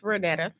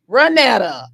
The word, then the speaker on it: Renetta: It's Renetta. Renetta. I had a G in front.